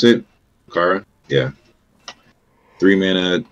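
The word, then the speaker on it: Rokara: Is that how you pronounce it? Rakara?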